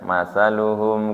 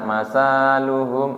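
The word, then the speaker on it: مثلهم: menirukan heehir kan membaca ketika saya baca apa namanya matsaluhum kamalilladuqodar contoh itu cara membacanya sebenarnya seperti itu. Kemudian ada yang membaca masaluhum. Ah, berarti diperbaiki itu harusnya pendek kan namanya memperbaiki. Berarti masih belum pas dengan apa yang saya ucapkan.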